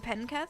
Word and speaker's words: Penketh: I'm from Penketh.